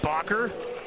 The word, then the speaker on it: Bakken: Yeah, they're going up against the very the Marlins very own opener today, Blake Bakken. Say it like soccer.